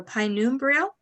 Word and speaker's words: penumbral: but in the um definition or in the pronunciation it's like p i so pinumbral related to or being a shadowy indefinite or